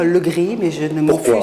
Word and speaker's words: Le Grip: gris ou le gris alors dans ma famille on a pris l'habitude ne pas prononcer le paie et de dire le gris mais je ne m'en